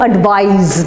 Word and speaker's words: advise: Let's go to advise now. Advise is with a Z. It's spelt I-S-E and it's pronounced with a Z.